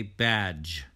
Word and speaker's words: badge: d oftentimes becomes silent we don't say bad j we say badge badge badge edge edge